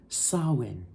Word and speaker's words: Samhain: so yeah I wanted to correct that it's pronounced Sinn so anyways we're going to go ahead and